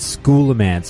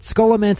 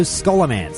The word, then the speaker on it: Scholomance: episode when I said school of ants because I did actually read that somewhere where someone said well it's a portmanteau of school and necromancy so school a man should be the correct